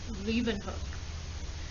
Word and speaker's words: Leeuwenhoek: you remember it his name was anton van leeuwenhoek anton van leeuwenhoek did not invent the microscope